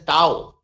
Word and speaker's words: tau: It is represented by a Greek symbol which is pronounced as a tau.